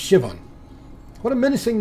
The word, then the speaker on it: Siobhan: seen uh ceo siobhan siobhan is pronounced shivan what a menacing name